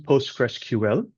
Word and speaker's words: PostgreSQL: So the full name is PostgresQL. That's how you pronounce it.